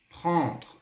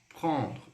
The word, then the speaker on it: prendre: O EN no francês ele tem som de on, beleza? Observe aqui, ó, o verbo pegar. Prendre.